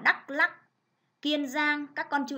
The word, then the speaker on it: Đắk Lắk: Đắk Lắk, các con chú ý cho cô vần ắc, đọc là Đắk Lắk.